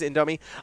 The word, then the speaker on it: Indomie: I always pronounce it wrong. It is Indomie.